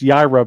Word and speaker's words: Yaira: She's spelled, it's Yaira, but it's with a silent H.